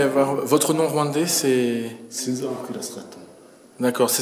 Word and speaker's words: Sinzabakwira: Sinza Okira Straton. D'accord, ça s'écrit comment?